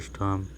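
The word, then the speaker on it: storm: वन डे, एक दिन, there was अ बिग स्टॉर्म। इसको बच्चों स्टॉर्म नहीं पढ़ेंगे, बीच में आर लगाया तो हम स्टॉर्म नहीं पढ़ेंगे, इसको स्टॉर्म पढ़ेंगे। इसमें जो आर है वो साइलेंट है।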